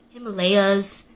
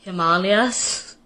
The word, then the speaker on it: Himalayas: Like, ashwagandha and Himalayas, it's Himalayas, and it's ashwagandha.